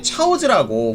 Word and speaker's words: 차오즈: 드래곤볼에는 교자라고 읽는 한자를 차오즈라고 중국식으로 발음했습니다. 분명 한자이지만 발음이 다르기 때문에 차오즈라고 후리가나로 적혀 있고요. 우리식으로 한자 읽기로 한다면 이건 교자라고 해야 되는데 교자라고 안 하고 차오즈라고 또 제대로 번역을 했어요.